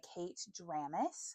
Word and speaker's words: Kate Dramis: This one is by Kate Dramis, I believe. Yes, that's how you pronounce her name.